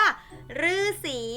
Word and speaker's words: ฤาษี: ว่า แน่ นอน ค่ะ ออก เสียง หรือ ก็ คือ คำ ว่า ฤาษี นั่น เอง นะ คะ เอา ล่ะ